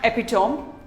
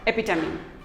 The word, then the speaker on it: epitome: very say very epitome it is not epitome it is epi tummy epi tummy epitome we all have a